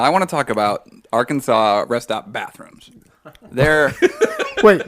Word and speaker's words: Arkansas: Now, I want to talk about Arkansas rest stop bathrooms. They're Wait, what? awful. I didn't stop in Arkansas. It's pronounced Arkansas. Arkansas, sorry.